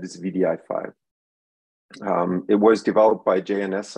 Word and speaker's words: wdi5: but we pronounce it vdi file because the W like trips your tongue every time you say it and um because it's